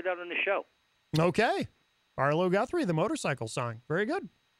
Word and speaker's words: Arlo Guthrie: Have you ever heard of Artie Guthrie? Did I say his name right? You mean Arlo Guthrie?